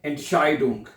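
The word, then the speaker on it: Entscheidung: ये देखिए पहले क्या बना? एंट फिर शाय एंड शाई डोंग।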